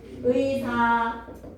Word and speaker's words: 의사: 줄 의사 의자 의미 이런 단어들은 어떻게 해야 돼 무조건 의로 발음해야 돼 처절의 의를 누가 이사라고 합니까 누가 처절의 의를 이자라고 발음합니까 누가 의미를 이미라고 발언합니까 절대 안 되죠. 그죠? 첫 음절의 의는 무조건 이중의 의로 발음을 하대.